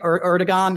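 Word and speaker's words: Erdoğan: Erdogan. I always say his name wrong. It's not a hard G.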